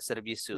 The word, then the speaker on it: servisu: Servisu seperti ini? Ya, B-nya pakai Victoria ya. Victoria. Ya, serbisu. iya. Bacanya serbisu. Oh, oke.